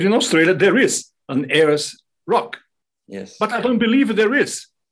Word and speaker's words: Ayers Rock: You say pronounce Ayers, right? Ayers Rock, that's right.